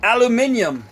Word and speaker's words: aluminium: story cuz it is Al aluminum or how the rest of the world pronounces it aluminium so yeah I'm going